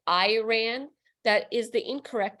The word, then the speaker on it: Iran: it a compound word it's actually one word and it's with an E it's like eron even though it's written